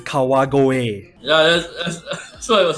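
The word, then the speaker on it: 川越: I was born in Kawago, Saitama. No, that's pronounced Kau. Oh that my is, god, that's terrible fucking. It's Kawagoe.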